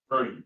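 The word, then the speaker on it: Capernaum: And so, uh, excuse me, Capernium.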